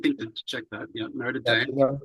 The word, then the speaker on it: Notre Dame: Notre Dame. The American pronunciation is Notre Dame.